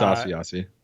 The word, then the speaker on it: Asiasi: The New England tight ends are Matt LaCosse and Devin Asiasi. I still don't know if that's a correct pronunciation. It's Asiasi.